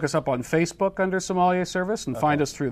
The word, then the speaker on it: sommelier: You can look us up on Facebook under Sommelier Service and find us through there.